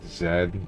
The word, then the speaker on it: Z: guy the final boss his name is pronounced Zed uh um no if